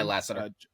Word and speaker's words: Lasseter: John Lasseter, how do you say it, Deshaun? Yeah, Lasseter.